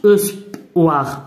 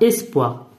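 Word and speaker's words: espoir: نعطيك كاع مثال، بحال هاد الكلمه كتقرا اس، هاد ما كتقراش اوسبوار اوسبوار، لا هادي كتقرا اسبوار اي، وما كنحاولش نقراها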